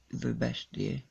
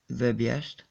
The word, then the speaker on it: Verbiest: Did our friend Verbestie, how do you pronounce it? Verbiest.